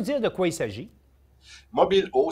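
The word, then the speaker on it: Mobil'eau: Mobilo, ça s'écrit tout d'abord par mobile, M-O-B-I-L, un apostrophe, E-A-U, Mobilo.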